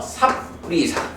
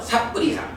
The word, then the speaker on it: sappurisa: 사뜨 뿌리사가 발음이 이제 연음되면서 삽뿌리사 이렇게 됐죠. 그러니까 뿌리사는 사람이야. 그런데 앞에 삽 원래는 사뜨 하니까 진실된 사람, 좋은 사람, 바른 사람 요런 의미가 되는 거죠. 삿뿌리사.